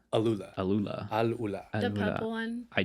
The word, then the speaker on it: Alula: Arula? Alula. Alula. Alula.